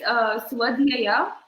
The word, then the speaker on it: Swadhyaya: So the number 4th is Swadhyaya.